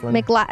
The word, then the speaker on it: McLaughlin: McLaughlin. It's spelled like Laughlin. Laugh tail.